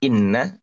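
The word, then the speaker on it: إنّ: makna yang kedua ya Kalau tadi dibacanya kasr Inna kalau sekarang dibacanya fathah Anna Nah ya sama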